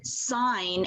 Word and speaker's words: sign: class and for example why is the word sign s-i-g-n most teachers would say oh there's just a silent g no because it comes from the word signal signal and signal has a g in it what about